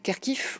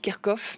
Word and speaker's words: Kharkiv: dans la mesure où Kharkiv, on l'appelle aussi Kharkov, parce que quand on est russophone, on prononce Kharkov.